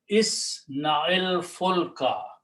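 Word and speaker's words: اصنع الفلك: So we change this sukoon to a kasra only for the purpose of pronunciation. So now it becomes isna'il fulka.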